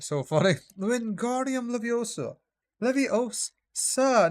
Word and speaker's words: Leviosa: Leviosa, not Levioso. I'm probably saying it wrong.